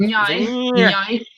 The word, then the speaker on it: Nya: it was meant to be pronounced like a car going by. That was the sound. Nyai.